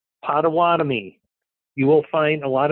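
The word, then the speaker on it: Potawatomi: lived here half your life so it's it's pronounced patami so first thing uh okay we've got site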